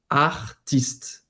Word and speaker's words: artiste: Em francês também é ti. O T é seco. O T, ele não tem esse som de ti. Uhum. Então, aqui no caso, a pronúncia correta seria artiste.